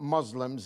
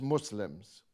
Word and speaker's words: Muslims: yourself first of all it's not Muslims it's Muslims uh so if you're going to be uh a propagandist for Muslims better if you can pronounce it properly secondly the British Muslims